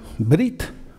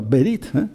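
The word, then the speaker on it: ברית: Y esto es una palabra, Brit, no Brit, sino Berit, con un sonido de muy corto, Berit, que significa pacto, alianza, pacto, alianza.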